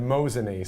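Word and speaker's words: Mosinee: going up there tomorrow as how do you pronounce the name of your town and they said mosan so there you go and I've been through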